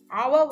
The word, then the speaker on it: hour: அவர் வந்து ஹெச் வந்து சைலண்ட் ஆகுது, ஆனா ஆ என்ற உச்சரிப்புலாம் ஸ்டார்ட் பண்ணப்படுது.